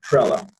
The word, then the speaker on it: Trela: About, rhymes with umbrella, Trela.